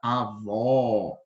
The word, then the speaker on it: avó: direita o acento agudo Olha a diferença na pronúncia na primeira a gente tem avô e na segunda avó tá bom avô avó percebe a diferença então o circunflexo ele faz a que a palavra seja pronunciada a letra seja pronunciada dessa forma de uma forma mais interna tá sem muito esforço para